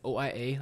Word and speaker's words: Oia: of Santorini is kind of looks like it's OIA, like Oia. But Okay. they say it's pronounced Ia with an E.